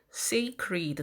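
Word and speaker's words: sacred: 여기는 쉬 바가 있습니다 자 그래서 뭐 이럴때 스켈리도 아니라 여기 a 에 강조 하셔서 쎄이 쎄이 그 우리 더 라고 있습니다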